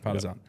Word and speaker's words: Partizan: Is that how you pronounce it? Partizan.